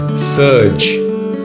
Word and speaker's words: surge: Today's word is surge. Let's look at its pronunciation, meaning, and a few sentences. Pronunciation: surge. It is surge. G-E. So the last sound is J and not G.